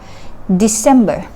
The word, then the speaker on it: December: อ ก เ สี ย ง ว่ า December พ ย า ง ค์ แ ร ก